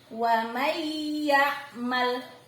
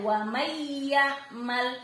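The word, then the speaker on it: وَمَن يَعْمَلْ: Suara N hilang, melebur ke huruf yang ada di depannya, yakni suara huruf ya. Wa may ya'mal, ditekan kuat ya. Wa may ya'mal, meleburnya kuat lagi.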